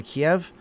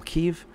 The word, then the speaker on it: Kyiv: to the east than Kiev, which they now call Kyiv, because now all the names are changed to Ukrainian.